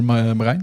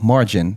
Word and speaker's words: Marijn: Well, Marine, everyone that is that are English and they're talking to me, they they speak my name like Margin because they can't pronounce the I Marine.